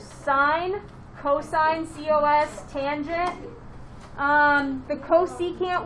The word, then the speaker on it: cosine: but they say sign it's not cos it's cosine it's not tan tangent i